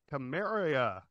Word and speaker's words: Carmeria: got Carmeria. I am pronouncing that right.